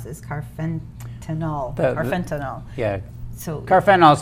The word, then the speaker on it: carfentanil: said it was, I'm going to try to pronounce this, carfentanil.